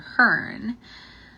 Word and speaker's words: Herne: Hearn. If you want to look him up, that is spelled Herne.